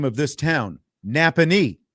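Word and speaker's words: Nappanee: Napony is how you say it.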